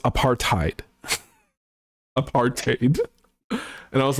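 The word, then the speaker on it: apartheid: at him and said it's pronounced apar tiid aparted and I was like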